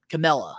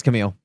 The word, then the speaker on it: Camille: and take out um Camella I think that's you say her name cam am right am I wrong I think it's Camille Camille yeah Camille yep Jamie hater is